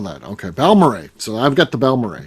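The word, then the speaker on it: Balmorhea: in the Dallas area it is balmorray balmoran I didn't know that okay balmory so I've got the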